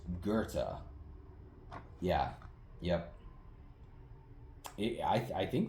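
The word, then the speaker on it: Goethe: I've been saying go my whole life and it's Gerta.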